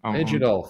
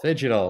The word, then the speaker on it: Phygital: easier than I thing I keep seeing the G in the middle and I'm like scared of it so I'm not saying I'll get it down we can go with a silent G yeah yeah I love